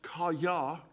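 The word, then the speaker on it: חָיָה: Well, the Hebrew word is phonetically pronounced kaya.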